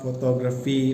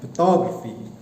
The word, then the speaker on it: photography: So the intonations of the word is photography. Not photography, but photography.